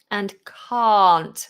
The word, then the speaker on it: can't: can't can and can't so can british english short ah ca can can't big long vowel for can't very different can't british